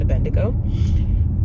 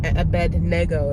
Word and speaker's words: Abednego: Nebuchadnezzar changed their names to Mach, Shadrach, and Abedo. Abednego, it's actually pronounced.